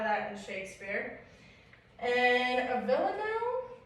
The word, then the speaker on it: villanelle: And a villanelle, is that how you pronounce that? Mm-hmm.